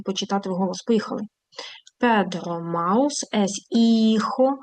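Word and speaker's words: hijo: Педро маус іхо. Х не читається. Іхо де ун аман і унаспаньола.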